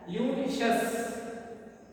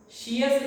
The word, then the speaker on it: luscious: It is pronounced as luscious. Sheous not.